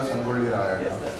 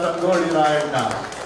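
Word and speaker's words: Sangolli Rayanna: Special points for perfect pronunciation. It's Kranti Veera Sangoli Rayana. Kranti Veera Sangoli Rayana.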